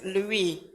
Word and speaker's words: Louis: is Louise or Louie French Louie they they they don't pronounce the last letter Louie but then he didn't